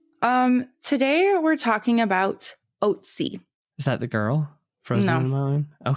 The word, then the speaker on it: Ötzi: Some pronounce it like almost like Ötzi, but it's Ötzi, and it's an abbreviation of the mountain range we talked about.